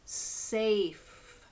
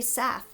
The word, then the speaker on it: safe: this word safe safe safe has a a and a silent e at the end so you sound this word out as safe you cannot say Seth because that doesn't make sense he is Seth that doesn't sound right um where is the